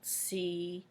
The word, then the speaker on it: cube: Cube is spelled C-U-B-E. E cube. Once again, the C is making the cuss sound. U, the E is silent. It's telling the U to say its name.